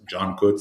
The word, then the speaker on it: Cankut: So my name is, it's written Cankut. It's pronounced Cankut. So the So, C is pronounced like a J.